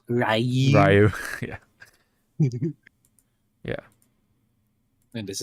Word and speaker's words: Ryu: MF is pronounced Rayu.